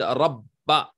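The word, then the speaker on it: رَبَّ: So for example, the word rabba, you will pronounce the ba twice.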